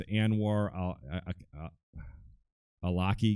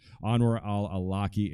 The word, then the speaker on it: Anwar al-Awlaki: Omar I see and and war yeah it's Anwar al-awlaki yes that's ed that's his name sorry I couldn't pronounce that Anwar al-awlaki and of course is sixteen-year-old son they were